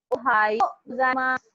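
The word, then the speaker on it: おはようございます: Whenever there is a su, whenever there is a word ending with su, the pronunciation will be sir.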